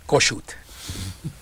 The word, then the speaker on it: Kossuth: was he he was how do you really pronounce it go shoot he was really the